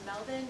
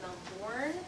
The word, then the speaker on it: Melbourne: years, and it's pronounced Melbourne, not Melbourne. That is in Florida. Right. Australians don't have the letter R.